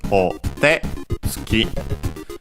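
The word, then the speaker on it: お手付き: By the way, the accent of this word is of this compound is o te tsuki, so on the te.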